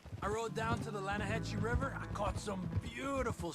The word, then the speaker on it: Lanahatchee: The other day, I rode down to the Lanahatchee River. I caught some beautiful steelhead trout. You mean the Lanahatchee River? No. The Lanahatchee. It runs right near here. Yeah, but it's pronounced Lanahatchee.